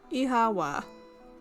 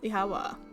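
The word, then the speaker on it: Oíche mhaith: Irish word for good night. One dialect would pronounce it as Ihawa. Ihawa.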